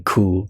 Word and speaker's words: Kou: The funny thing about the pronunciation cool, like it translates to the word arse in Portuguese.